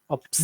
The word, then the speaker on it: upset: the word upset yeah the first part is upset no that would be upset which would actually be a verb okay but this is this is an adjective and so actually the the accent is on the sit yeah sit yeah second so so if you say upset that's actually a verb that means uh problems